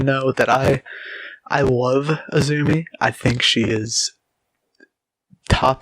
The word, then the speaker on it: AZM: talent we have azumi it is spelt azm but it is pronounced azumi i know you're going